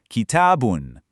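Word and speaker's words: كتابٌ: First, kitabun. Next, kitabin. And finally, kitaban. You hear that? The core rhythm, kitab, never changes.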